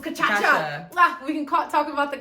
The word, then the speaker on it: cachaça: It's really called cachaça, but I call it cachaça. If you look at how it's spelled, you kind of get the cachaça vibe.